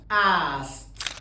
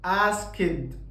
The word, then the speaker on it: asked: بقلب الدي اخليها تي، فبقول worked watched asked. ما بقولش worked غلط، watched غلط، asked غلط، كل النطق ده غلط.